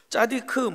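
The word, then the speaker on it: צדיק: 짜디크, 째다카 이런 식으로 발음하는데 이 공의, 정의, 하나님은 정의로운 자를 기뻐하십니다.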